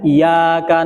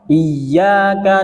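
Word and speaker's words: إياك: harus ditahan gak boleh bacanya iyaka na'budu wa iaka Nain maka tidak sempurna bacnya itu karena dia meniadakan tasdid Tetapi dia harus ditekan iyyaka na'budu wa iyyaka nasta'in selanjutnya ihdinasiratal mustaqim di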